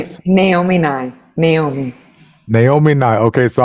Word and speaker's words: Naomi Nye: Pronounce your Sure, name my for name us. Naomi Nye.